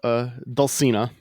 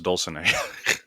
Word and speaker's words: Dulcinea: So we got episode 1 here, Dulcinea. Oh, really? I thought it was Dulcinea. Dulcinea? Dulcinea. Dulcinea. But I pronounce everything wrong. It's Spanish. Yes. Yeah. Because it comes from Don Quixote.